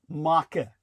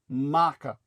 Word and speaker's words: marque: where they were uh swearing off letters of Maka meaning uh it's spelled marque you would think it would be pronounced mar but it's letters of maca and the letters of maka are the permission